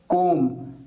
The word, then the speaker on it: comb: पर B silent है, कोम यहां पर बी साइलेंट है, और ऐसे कई सारे वर्ड्स हैं जिसकी वजह से स्पेलिंग मिस्टेक्स हो जाती है।